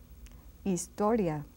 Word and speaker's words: Historia: is hotel hotel and Historia istoria just like in English except that H is silent history istoria and the